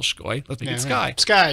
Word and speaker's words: Sky: It is originally Latvian. Really? It was pronounced Shkoy.